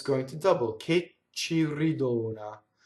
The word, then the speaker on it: ridona: Che ci ridona. Ridona, closed O, one N, right? The mistake is ridonna that you could make.